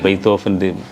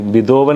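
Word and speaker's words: Beethoven: ഇപ്പോൾ ബിതോവൻ എന്ന് പറഞ്ഞത് തെറ്റാണ് ഉച്ചാരണം ശരിക്കും. Ludwig phone ബെയ്ത്തോഫൻ. അപ്പോൾ V ഒക്കെ F ആണ് അവരുടെ ജർമ്മൻ്റെ ഇതിൽ.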